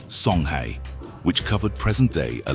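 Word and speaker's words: Songhai: a typical example is the sonai Empire pronounced Soni which covered present day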